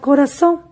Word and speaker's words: corazón: Por ejemplo, la palabra corazón, donde recae la mayor fuerza de voz, es en la sílaba son, en la última sílaba.